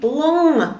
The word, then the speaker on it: long: Дело в том что когда эта буква Н появляется в конце слов в сочетании с буквой G например как в слове Long длинный то буква G вообще не произносится А наша буква Н превращается в такой носовой звук мы не говорим лон а говорим лон н лон чтобы научиться произносить этот